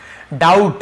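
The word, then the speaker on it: doubt: डाउट, यहाँ पर भी बी साइलेंट है, डाउट पढ़ेंगे, डाउट नहीं पढ़ेंगे, ठीक है।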